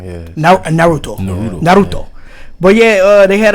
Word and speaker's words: Naruto: said what because you're saying it wrong yeah naruto but yeah uh they had a marathon i